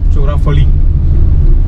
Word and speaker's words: chorafali: Just googled तो उसको चोरा फड़ी वर है, that's what he was saying, but actual the spelling was CHORAFALI, चोरा फड़ी, चोरा फड़ी।